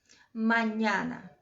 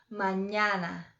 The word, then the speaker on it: mañana: É onde tem o N, a gente coloca o som do NH. Por exemplo, a palavra mañana.